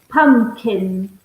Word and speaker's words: pumpkin: p k i n so be careful I don't you don't pronounce the second P pumpkin yeah it's a silent